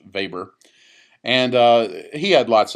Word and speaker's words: Weber: Max vber uh even though it looks like Weber it's pronounced vber and uh he had lots of of things